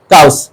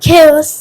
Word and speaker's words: chaos: আচ্ছা এবার আমি শিখ বলবো কাউস।